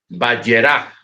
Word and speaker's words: Vayera: En esta noche vamos a la parashá Vayera. Se puede pronunciar de dos maneras, Vayera o Vayera.